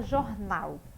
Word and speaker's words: jornal: Chame como se você estivesse chamando uma pessoa. Jornal. Onde foi que se demorou mais? No nau, não foi? Então, logo, esta aqui é a minha sílaba tônica. Ela está onde? Na última posição. Por isso, ela é uma palavra oxítona.